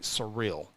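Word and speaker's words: Cyril: Surreal is the pronunciation. So C-Y-R-I-L, but it sounds like surreal.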